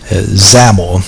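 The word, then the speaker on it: XAML: the design view and zaml this xam ml is pronounced zaml like camel but with a z and we're going to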